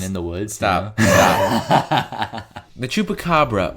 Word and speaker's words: chupacabras: the woods stop the chupacabra or chupacabras Spanish pronunciation to pick up a